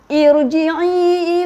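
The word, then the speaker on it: ارْجِعِي: Jadi kita kena bariskan kasrah. Okey, cara baca macam gini. Irji'i ila rabbiki radiyatan mardiyah. Jadi irji'i. Kita tak boleh baca fathah ke apa.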